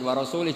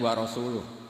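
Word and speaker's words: ورسوله: Wa rasulih juga gak ngurus Rasulnya. Kalau sama Rasul saja tidak ngurus, apalagi sama kita. Bersama Sayyidina Ali dibenarkan, yang benar bacanya itu wa rasuluh.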